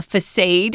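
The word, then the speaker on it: façade: like Tom said be careful um this isn't pronounced fade or uh facade it's facade uh it comes from French I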